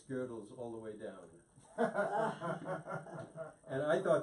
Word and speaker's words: Gödel: Yeah, it's Gödel. That's the German.